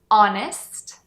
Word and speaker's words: honest: francês e grego e, porém, a gente não pronuncia essa letra H mesmo que está no começo das palavras. Essas palavras são our, honest, honor, air e a